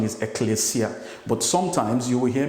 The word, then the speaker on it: ekklesia: And I know some people, even me sometimes, pronounce that word as ecclesia, but the real pronunciation is ecclesia.